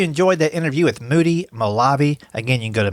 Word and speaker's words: Molavi: And then Moody Molavi, not that anybody can pronounce or spell that name, but it's Molavi.